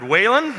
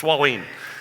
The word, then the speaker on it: Wahlin: Yeah, I heard Wahlin, nope. Wahlin, nope. It's Wahlin. It's Wahlin, like a wall leaning.